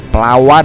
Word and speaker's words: Plawad: Jadi, saya langsung menuju Tangerang, menuju terminal pertama, yaitu Terminal Poris Plawad . Playad, teman-teman. Ejaannya menggunakan huruf 'D', bukan 'T', bukan " perawat."